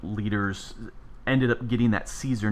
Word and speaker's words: Caesar: And so a lot of people say that it was done with the Caesar would be with a hard K sound.